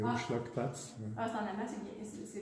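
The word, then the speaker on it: Umschlagplatz: C'est en allemand, mais c'est Hochschlagplatz.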